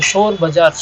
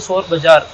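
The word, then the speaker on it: Shor Bazaar: எப்படி இதோட பேர் வந்துச்சுன்னா இது ஷோர் பஜார் ஷோர் அப்படின்னா ஹிந்தில வந்து சத்தம் அதாவது சத்தம் இறைச்சல் மிகுந்த ஒரு மார்க்கெட் அப்படின்னு இருந்துச்சு ஆனா ஆங்கிலேயர்கள் வந்து அந்த உச்சரிப்பை சரியாக தெரியாம இதை வந்து சோர் பஜார் சோர் பஜார் அப்படின்னு சொல்லிட்டு திருட்டு மார்க்கெட் அப்படின்னு சொல்லிட்டாங்க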